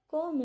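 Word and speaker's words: comb: कोम it properly. इसको कोम नहीं बोलना क्योंकि बी साइलेंट होता है।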